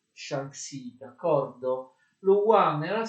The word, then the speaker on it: Shanxi: della Cina dello Xan, forse si legge Shanxi, va bene, per maggiore facilità lo leggerò Shanxi, d'accordo?